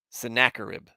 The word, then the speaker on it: Sennacherib: great wall oh good you've got a better pronunciation for that vertex thank you sennacherib okay that's easier to say actually thank you